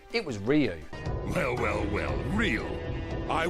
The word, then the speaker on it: Ryu: friends and i found out that we actually mispronounced the main character's name it wasn't ryu it was ryu well well well real i was looking for